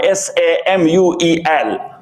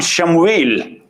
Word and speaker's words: Samuel: Samuel alayhi salatu wasalam, S-A-M-U-E-L. Samuel. In Arabic, we pronounce it Shamuel. But in Testament, he is Samuel.